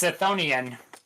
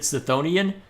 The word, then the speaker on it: Chthonian: So, Pronounced Scythonian, but well, that's what's weird. Battlezone, what we're familiar with, pronounced it Scythonian. Hades, the game I played a while back, pronounced it Chthonic. So, it seems to be tomato, depending on who's making it, for better or worse.